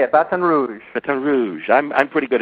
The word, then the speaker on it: Baton Rouge: Did I pronounce that right? Yeah, Baton Rouge. Baton Rouge? That's how they say it, Baton Rouge.